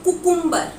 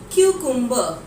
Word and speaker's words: cucumber: नाउ कुकुम्बर, आप ये word को सुन रहे हो ना, ये जो प्रोनाउंसिएशन है ना कुकुम्बर की, that is totally incorrect. The correct pronunciation for the word कुकुम्बर इज cucumber.